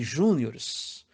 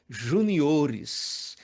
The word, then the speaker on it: juniores: você ancia campeonato de Juniors sinto informar que o certo é Juniores Até porque não existe palavra acentuada antes da antepenúltima sílaba no segundo caso a